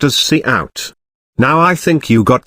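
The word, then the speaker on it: cout: the output called by the function C out pronounced as C out now I think you got the sense of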